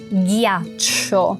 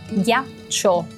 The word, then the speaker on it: ghiaccio: Então não olhe para como ela está escrita, só ouça ghi. O som ghi, que em português você escreve com G-U-I, a gente escreve com G-H-I, mas é exatamente o mesmo som, ghi.